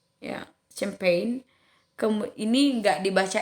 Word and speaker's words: champagne: So silent G is not often not pronounced when followed by an and n. Ya. Ini apa namanya huruf G ini biasanya tidak disebutkan kalau dia diikuti dengan huruf an dengan n ya. Contohnya kata champagne ya, champagne.